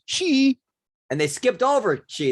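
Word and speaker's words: xi: how do you pronounce x i c x i in in chinese would be she and they skipped over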